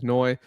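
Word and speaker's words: Ryan Flournoy: Um but um and and I think people are are sort of hip to him now, but Ryan Fenoi is pronounced Floyi.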